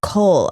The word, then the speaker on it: kohl: It was, I can't remember what it was made out of, but it was called like kohl eyeliner. Yeah. But like spelled like Kohl's, like the store.